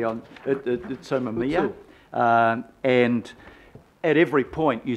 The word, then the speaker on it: Utsunomiya: Yeah, and the other one was, I've got to get the pronunciation correctly on, Utsunomiya.